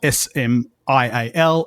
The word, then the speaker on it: smial: And that's the word that Tolkien basically said, had it continued into present day English, it would be most likely spelt S-M-I-A-L and pronounced smile because of the great vowel shift.